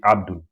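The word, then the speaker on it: عبد: It's not a. When we say a, that's the hamza sound here. A, a. When hamza has a fatha on it, or when it has a vowel, it comes as a, a, a. But here we are saying a, a, a little bit sharper and high pitched.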